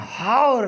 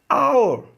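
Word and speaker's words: hour: ठीक है, number second, और इसे हम हाउर नहीं पढ़ते, क्या पढ़ते हैं, और। ये एच क्या है, साइलेंट, इसलिए हम यहां पर क्या लिखेंगे, एन आवर, एन आवर, एन आवर, क्या, एन आवर।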